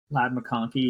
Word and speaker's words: Ladd McConkey: And when it comes to the receiving room, Ladd McConkey. Did I pronounce that right? Ladd McConkey, yeah.